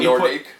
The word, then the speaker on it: Nordique: No, one Nordique. when you put well, true, but when you put a Q, U, and an E together, it sounds like a K.